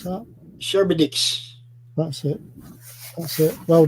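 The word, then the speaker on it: Charybdis: of shower oh dear c-h-a-r-y-p-d-i-s if you can pronounce that sherbetix that's it that's it Well Done yep yeah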